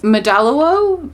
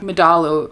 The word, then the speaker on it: Madalo: Medalo." No, that's not how you pronounce that. Madalo.